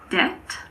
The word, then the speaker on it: debt: There are also a few words in which the B is silent before the letter T. These words are debt, doubt, and subtle.